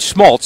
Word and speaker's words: Schmalz: a lot of different things it's a rind Smoltz am I saying it right now boasts ret